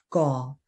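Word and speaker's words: 個: measure word for people which is go it's the g-o but you pronounce it as gaul more like yeah good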